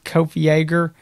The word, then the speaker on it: Kopfjäger: that but that's what it is kofi ager and i just call